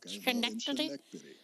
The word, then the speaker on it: Schenectady: Schenectady.